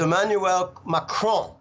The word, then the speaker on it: Emmanuel Macron: of two hundred kids so the way you pronounce it is Emmanuel macron okay Makran won the rigged farcical corrupt election